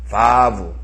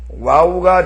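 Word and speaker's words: ו: 여러분이 주의하셔야 될 부분이 바부 다같이 바부 예브 발음입니다. 예 그걸 빨리 발음하면 와우라는 발음으로 아마 공부하신 분도 계실 거예요. 와우가 된 이유가 바로 그래서 그런 거예요. 예. 바브인데 빨리 발음하다 보니까 그게 W 발음인 줄 알고 그렇게 그게 잘못 이렇게 바뀌어진 거예요.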